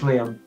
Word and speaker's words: Liam: Liam, my name's Liam. Not Liam. Liam. No, Liam.